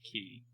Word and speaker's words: quay: like the quay not key is that how it's actually pronounced no it's pronounced key okay the quay version not